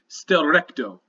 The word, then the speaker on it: Schtllrechto: What you see is a food that's titled Stelrecto, and it's spelled SCHTLLRECHTO.